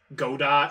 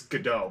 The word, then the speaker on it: Godot: pronounced his name correctly they always say like dot godot or gato it's godot like waiting for godot oh second all but